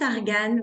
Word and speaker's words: Argan: suis maman d'un petit Argan ça se prononce argane même si c'est si